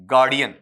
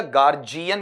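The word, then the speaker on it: guardian: में आता है बताओ ये किसम जाएगा आपका गार्डियन र्जन या गार्जियन या गार्जियन ठीक है र्जन ऐसा कोई नहीं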